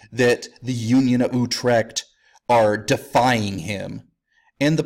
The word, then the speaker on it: Utrecht: the you of Utrecht Utrecht is spelled kind of like it sounds to me it sounds a little bit like a sound a cat would make as its vomiting but who trekked you TR e CH T